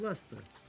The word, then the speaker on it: Leicester: I'm from Leicester. No. There's this place called Leicester that they pronounce Leicester. It's fucking crazy.